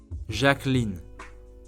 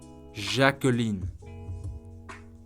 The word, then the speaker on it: Jacqueline: Let's pronounce this beautiful name together. Jacqueline. Jacqueline. Jacqueline.